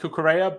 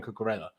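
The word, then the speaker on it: Cucurella: i'm still i mean it's definitely pronounced cucurea but everyone else seems to be calling him cocarella and i feel like it sounds nicer so i haven't decided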